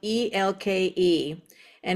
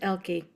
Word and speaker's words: Elke: Oh, by the way, Ela is spelled EL. And if you want to be my friend, it's not pronounced Elkie. It's Ela.